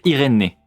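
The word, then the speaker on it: Irene: Irène, prononcé Irénée.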